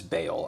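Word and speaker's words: Baal: We're going to stick with ball, I think. I don't like B-A-A-L. B-A-A-L. Yup, B-A-A-L. 2 A's. Pronounced as bale. I don't like that. We've settled on that.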